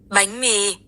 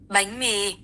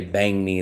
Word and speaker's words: bánh mì: Bánh mì. Bánh mì. Bánh mì. I will never say bang me, though.